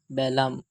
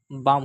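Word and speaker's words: balm: তিন গাম এখানে সবাই সবই এল উচ্চারণ হবে। অনেকেই বলে বি এল এম বেলাম বলবে না। এরা বাম হবে। বি এল এম বেলাম না বাম।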